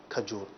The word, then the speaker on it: کھجور: ورنہ عموماً جو ہے وہ لفظ کھجور لوگ استعمال کرتے ہیں، جبکہ درست جو ہے وہ جو کھے ہے اس کے اوپر زبر کے ساتھ ہے، کھجور۔ تو افطار، اہتمام اور